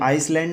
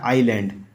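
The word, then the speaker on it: island: होता है बड़ा और यह आइसलैंड नहीं होता यह होता है आइलैंड आइलैंड इसमें एस एस में साइलेंट रहता है आइलैंड पढ़ा जाता है यह दीप के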